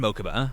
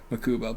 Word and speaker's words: Mokuba: i assume so yeah okay yeah like they pronounced in mokuba mokuba okay i it's gonna be hard for me to not say makuba but yeah also because i like the way